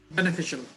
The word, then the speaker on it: beneficial: beneficial বিশাল beneficial. So এই ফি শাল শেষে উচ্চারণ হবে কি? শাল। Yes sir. বেনিফিশিয়াল। এই বেনিটা সুন্দর করে বলবা, ফিতে এসে কি করবা? একটু জোর দিতে হবে।